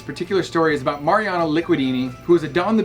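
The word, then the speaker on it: Licudine: My buddy Hurricane Hayward, the unofficial ambassador of the MaiKai, had to phonetically tell me how to say his last name because I always thought it was Mario Lucinde or something, but it's Mariano Liquidini. He is the Houdini of liquid.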